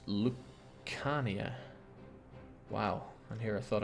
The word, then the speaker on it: Lucania: It's pronounced Lucania.